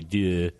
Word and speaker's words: Deux: It's Deux. I think if you were to say it right, it'd be Deux. Two. I don't think you say the S.